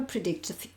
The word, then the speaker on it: predict: Puede explicar el pasado, but it can never predict the future. En este caso, fíjate que tengo una C y una T, tengo que pronunciar las dos cosas, predict, pero nunca puede predecir el futuro.